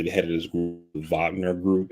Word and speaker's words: Wagner: He's basically the head of this group, Wagner Group. It's spelled Wagner, but they pronounce it Wagner.